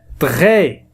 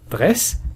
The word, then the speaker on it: très: Très S لا ينطق. لا نقول dress.